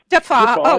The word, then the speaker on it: Deffaa: How do you pronounce it? I'm sorry. Deffa.